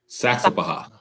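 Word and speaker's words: Saxapahaw: This is how you pronounce Saxapaha. Saxapaha.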